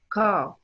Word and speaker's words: car: But in the British accent, they will not pronounce the R in it. جميل ما بننطقهاش خالص فهنقولها ازاي؟ Car.